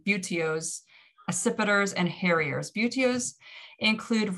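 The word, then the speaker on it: buteos: three major groups um beauteos or i'm pronouncing that wrong butios acipiders and harriers beautios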